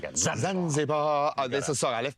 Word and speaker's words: Zanzibar: Zanzibar.